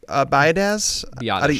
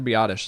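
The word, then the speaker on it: Biadasz: I'm gonna at the the risk of completely mispronouncing his name Tyler by Dez Johnson yep Tyler B oddish it's a perfect fit oddish there we go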